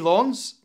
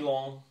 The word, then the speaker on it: Lens: I think if there's an E after the S, you pronounce the S.